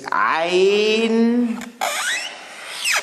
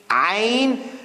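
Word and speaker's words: عين: We have this ayn. You see this frock dress I talked about? Ladies' dress, big dresses, those big dresses. Ayn. Now this is like an ah, but from deep inside the throat.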